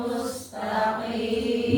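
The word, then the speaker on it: مستقيم: Sin tipiskan mustaqim. Qim jangan qim. Kalau qim tarkik ya tafkhimkan qim jangan qim. Semua huruf istilla pelafalannya itu tebal dulu. Qof jadi qi, sh, dadi di. Iya kan? Apalagi th jadi thi, gian, ghi. Kalau ghi tarkib, tebalkan dulu baru dikasrahkan. Itu yang disebut hukumnya adalah sifatnya tafkhim.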